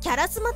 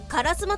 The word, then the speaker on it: 烏丸: アメリカ英語だとキャラスマとなり、どこかの大物芸能人が言ってそうな発音になりますから、イギリス英語っぽくカラスマと読むことはカ